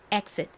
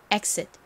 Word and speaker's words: exit: 끝에 티는 약하게 트 소리가 나는데 워낙 약하게 발음이 되다 보니 exit exit 이렇게 침처럼들을 때가 많아요 그래서이 단어를 표기할 때